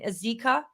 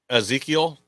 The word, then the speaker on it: Ezekiel: it correctly the um it's in azika is that how you said Ezekiel Ezekiel there you go please note I